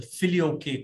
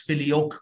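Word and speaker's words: Filioque: of the theological issues is something called the Philly okay controversy all right in Latin the filio-k controversy or some people pronounce it as philio controversy whatever um what the Philly okay controversy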